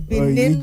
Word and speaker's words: Benin: weekend what happened in Benin Republic. Benin Republic. Uh Gabriel made sure that I I writed my pronunciation. Some of us get got so carried away with Ben Republic. So yes, Benin Republic.